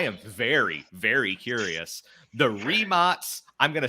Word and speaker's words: Rimac: But I was today years old when I learned that's not Rimac, it's Rimac. Rimac.